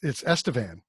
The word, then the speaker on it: Estevan: Only we use the Spanish name for Stephen, and then we bastardized the Spanish name for Stephen with the PH. No, it's Estevan. Oh yeah, right. You mean Esteban? Esteban? Like it's Spanish.